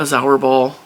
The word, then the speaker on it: Zauberball: of this, because I have always wanted a Zauberball. This is how it's pronounced.